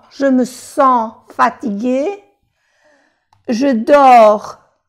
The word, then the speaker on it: dors: Je dors. No se pronuncia la S.